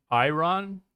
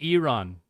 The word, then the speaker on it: Iran: And Americans say I run. I'm not American. So it's it's apparently Iran.